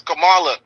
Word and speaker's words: Kamala: you say the word so if you add a a some people going to say Kamala they're not going to say camel cam cam and then you add a a Camala n that's that's pronunciate is Kamala she just don't want